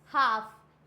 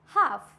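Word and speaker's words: half: हैं आगे बढ़ते हैं एफ से पहले होता है तो क्या होगा काफ हाफ यहां पे क्या है यहां पे एफ से जस्ट पहले दिया हुआ है इट मींस यहां पे भी एल साइलेंट होगा फॉर एग्जांपल काफ हाफ तो यहां पे एल को हम नहीं प्रोनाउंस करते हैं डन नेक्स्ट बढ़ते हैं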